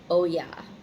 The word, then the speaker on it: Oya: And her name is pronounced Oya.